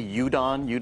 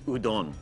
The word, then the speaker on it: udon: A lot of people say udon because it starts with U, but it's udon. Udon.